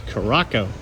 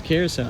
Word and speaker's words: Curaçao: Curaçao is spelled C-U-R-A-C-A-O. A lot of times people think that's Curaçao, but it's Curaçao, and it's raining.